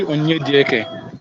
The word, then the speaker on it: Onyedieke: You're pronouncing it right, so it's actually Onyedieke.